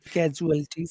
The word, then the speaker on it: casualties: Okay, now if you say casualties, which syllable has all of the power? Catch. Casualties.